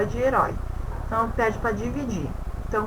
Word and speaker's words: herói: Então a gente percebe herói e foi. Herói, ele tem o som mais aberto. E foi o som mais fechado.